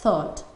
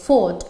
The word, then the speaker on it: thought: Por ejemplo, la palabra thought comienza con TH y significa pensé, pensamiento. Si nosotros lo pronunciamos como si fuera una F, fought, estamos cambiando el significado y significa luché.